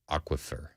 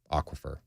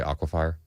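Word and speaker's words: aquifer: if somebody's grilling me 9944 in America it's pronounced aquafer aquafer what did I say did I say aquaa fire yeah I guess so well all right my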